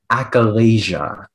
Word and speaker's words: achalasia: acalesia no acolysia echolesia no listen to me acalasia acalasia that sounds more right okay appalachia are there